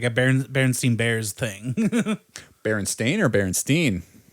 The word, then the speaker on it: Berenstain: It's the way it's spelled is Berenstain, Stain. But we all remember it as Berenstein because it's one of the examples of the Mandela effect that everybody has kind